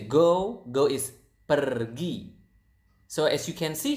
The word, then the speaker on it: pergi: If you guys speak Spanish out there, I think you will notice that Indonesian pronounce the R quite similar to the Spanish language. To the Spanish. So it's pergi. Again, pergi.